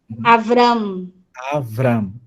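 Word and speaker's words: אַבְרָם: Ele tem um momento, né, o início da sua caminhada, ele é chamado de Abram, né, em português, né? Em hebraico, Avram. Uhum.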